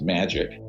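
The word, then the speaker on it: MAJIC: the majority intelligence committee ma ajic it's pronounced magic ironically uh or not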